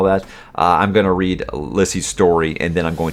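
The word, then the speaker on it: Lisey's: story releases today and yes i realize i've been saying it lysey's story i've been saying it wrong for like a decade plus now uh there was a little short advertisement that apple put together with stephen king actually talking about it and he kept calling it uh lissy's story and i was like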